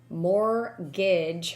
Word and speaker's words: mortgage: mortgage go ahead shawna more gauge where the t is silent a legal document that